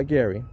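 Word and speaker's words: Geary: and your yes what's the first name uh gary g-e-a-r-y-yeah you're saying it right r y e-r-y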